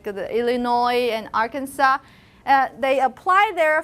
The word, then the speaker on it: Illinois: this how about this do you have the sir in your pronunciation you're not supposed to i did it when i was uh first arrived in america but it's just illinois okay now that at